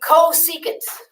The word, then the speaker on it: cosecant: This one right here, sine, is related to cosecant. And that's how it's written. That's its abbreviation. It's pronounced cosecant.